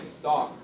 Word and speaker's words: stalk: Same with something like stalk.